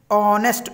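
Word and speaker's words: honest: अब वैसे एच जो है वो वोवल नहीं है, लेकिन एच इसमें साइलेंट है, ऑनेस्ट ओ से बोला जाएगा ऑनेस्ट, तो इसलिए हमने ओ के साउंड को फोकस करना है, ये वोवल है तो एन ऑनेस्ट पर्सन।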